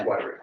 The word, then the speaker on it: Wyrick: Okay, next we got James Wyrick? Warwick? How do you say that? Wyrick. It is Wyrick, okay.